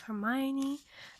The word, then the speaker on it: Hermione: The Two Faces of Hermione.